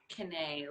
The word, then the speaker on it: Kiné: It's pronounced Kiné, like Renee with a K, but in different languages, it'll sound different.